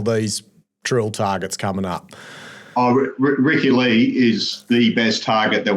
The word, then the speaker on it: Ricci Lee: Is that how you pronounce it, Ricci Lee?